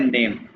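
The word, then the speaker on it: Name: अब देखो, इसको हम कहते हैं नेम, लेकिन ए को क्या कहते हैं आ, और ई को कहते हैं ए, ठीक है। तो इसको हम कैसे प्रोनाउंस करेंगे, हर अल्फाबेट्स को बोलते हैं जर्मन में नामे, नाम है।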